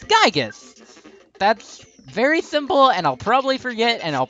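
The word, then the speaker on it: Giygas: me some stuff like how Gigi is pronounced as gigas that's very simple and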